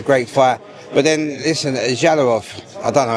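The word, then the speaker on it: Jalolov: But then listen Jalilov I don't know how to say it I think I said it right. Yes Jalilov Jalilov.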